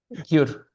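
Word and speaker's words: གྱུར: So if there was no yatak, it would be this gur, right? But with So the I yatak, see. we stick Yeah. it in between the ga and the u sound.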